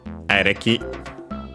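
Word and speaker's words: エレキ: Actually an abbreviation of electricity, which by the way is accented on the first syllable, ereki.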